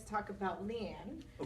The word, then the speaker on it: Lian: No, I'm sorry, "Li-on?" - Either way. I've heard it pronounced both ways from people who actually -- - What is your preferred? - I always pronounced it "Li-on." - That's what we're gonna go with.